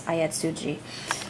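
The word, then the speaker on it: Ayatsuji: I just read Another by Yukito Ayatsugi, excuse me, it's Ayatsugi. I will pronounce this correctly.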